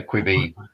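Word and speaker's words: Quibi: It's supposed to be quick buy, so that makes it quibby, but that sounds a bit weird, doesn't it? So quibby, whatever.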